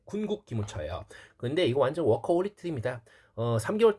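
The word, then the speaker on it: 군국기무처: 주시면 되겠고요 자 이것에서 발음 조심하셔야 됩니다 군곡 기모처입니다 국군기모처라고 많이들 헷갈리는데 군국 기모처에요 근데 이거 완전 워커홀릭트입니다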